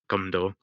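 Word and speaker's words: 검도: there is uh the the kendo the gondor which is the same kanji just that's how the koreans pronounce the word gondor but there's also an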